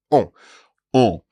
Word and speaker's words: on: So it's the same vowel sound there, en France, and then a different vowel sound for the word for we, or one. On. On.